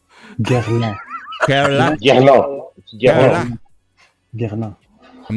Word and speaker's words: Guerlain: Am I pronouncing that correct? No, not even close. Guerlain. Guerlain.